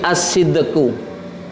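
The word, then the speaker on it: الصدق: empat itu ya dari asidqu asidqu itu jujur jadi beda dengan ass-siddiq ya kalau asssiddiq itu orang yang percaya tulisannya beda asidqu jadi alif lam Shad Dal qof Itu jujur ya kalau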